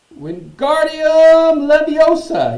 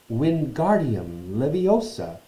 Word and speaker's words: Wingardium Leviosa: "Wingardium Leviosa!" he shouted, waving his arms long like a windmill. "You're saying it wrong," Harry heard Hermione snap. "It's Wingardium Leviosa. Make the guard nice and long."